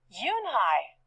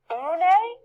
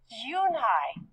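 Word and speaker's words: Unhei: new here what's your name a girl asked yoonhai said yunhai une the girl asked scrunching up her face some kids chanted no no yoon hai corrected it's spelled u-n-h-e-i it's pronounced yunhai oh it's you hey the boy said like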